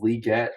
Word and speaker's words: Legette: for Xavier liette Legette again I'll say both pronunciations because he did say that it is liette but everyone calls him Legette I don't know if he's trolling or not hey trade in to